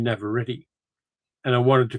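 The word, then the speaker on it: Navarrette: I pronounced that as Indie Navaret, but it's actually Indie Navareti.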